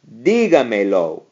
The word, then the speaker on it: dígamelo: This one, because it has four syllables, the natural stress being over the I, you have to write that. You have to count back four. Notice how I was counting back three. Whenever you add two pronouns, like a me and a lo, to a command, then you have to go back to the fourth syllable.